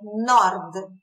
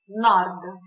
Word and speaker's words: nord: Norte é nord. Nord. Atenção à pronúncia. São poucas as palavras que terminam com consoante, mas se terminam com consoante, eles não tendem a colocar uma vogal como a gente tende a colocar, né?